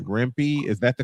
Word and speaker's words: Rempe: another Matt, I want to say this right, Rempe? Is that the correct pronunciation? If not, Matt Rempe, yes.